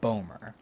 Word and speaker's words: Bomer: love the first one it looks like Boomer but we pronounce it Bomer let's say them together